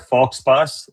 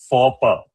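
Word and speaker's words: faux pas: and highlight a word it's not fox pass It's for the X is silent.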